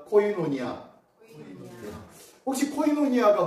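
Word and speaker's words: κοινωνία: 헬라어로 코이노니아라고 읽습니다. 한번 따라합니다. 코이노니아.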